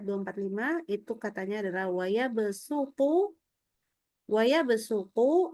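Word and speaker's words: وَيَبْسُطُ: itu katanya adalah wayabsuqu wayabsuqu itu wajib dibaca sin. Tapi ee sepanjang ana membaca berkali-kali terutama kalau apalagi nanti kita sudah masuk di hafalan itu kecenderungan kita itu bacanya jadi wayabu. Nah itu itu jadi sinnya enggak sin tapi sudah setengah qasat itu ya. Sementara riwayat haf itu adalah ee memberikan itu panduannya adalah ke sin ya.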